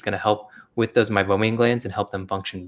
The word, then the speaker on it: meibomian: awesome i did not know about the mobile mobium glance how do you say that again meibomian glands yeah oil blends yeah the oil blends